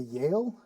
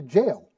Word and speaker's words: Yale: That's not how my mother pronounces it because the Y in Swedish isn't pronounced that way. So her constant way of pronouncing that was, oh, George Bush went to jail.